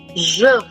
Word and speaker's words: je: the answer is, again, the J sound has to be soft. It will be je. Like you say measure, that je.